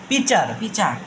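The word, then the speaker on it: pitcher: উচ্চারণ হবে না মাঝখানে টি এর উচ্চারণ হবে না পি আই তে পি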